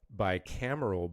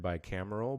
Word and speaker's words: bicameral: And so state legislature is bicameral body consisting of a lower house, which is